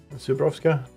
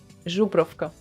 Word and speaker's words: Żubrówka: You just need to remember it's not z, but I'm ż.